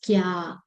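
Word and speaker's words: きゃ: It becomes kya.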